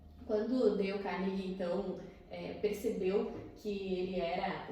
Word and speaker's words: Carnegie: Dale Carnegie, muitas pessoas perguntam como que se pronuncia e tá certo assim, mas eu digo para lembrar de Odeio Carne, que torna mais fácil de recordar esse nome. Quando Dale Carnegie, então, percebeu que ele